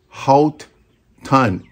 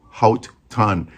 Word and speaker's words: Haut Ton: but it's produced by halt tan h-a-u-t t-o-n which I guess is pronounced hot ton it comes in seven